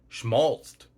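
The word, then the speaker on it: schmaltzed: At 10 letters long, some people say that the longest monosyllabic English word is schmaltzt, because you don't pronounce the E and ED endings unless you're really enunciating and trying to sound learned.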